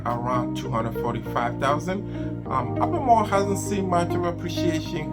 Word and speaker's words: Albemarle: It is spelled A-L-B-E-M-A-R-L-E.